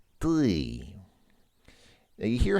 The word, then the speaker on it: ты: You start off with that sound, which I mentioned, but then becomes the more normal E sound. So it's not ты, but it's more like ты.